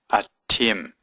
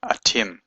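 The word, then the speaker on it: אתם: men and women, then I use the word atim, aleph, tav, mem. There's a little seagull here. And this dot here means it's a doubling of the letter, the hard letter, atim.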